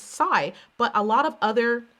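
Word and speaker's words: Pasay: breakthrough i realized that the s-s-a-y it's psy but a lot of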